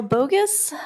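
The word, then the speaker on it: Bogis: will have three minutes thank you for pronouncing my name correctly um it is spelled and um I live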